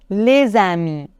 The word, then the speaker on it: les amis: les idé les amis ici le S se prononce les idé les amis et maintenant je rise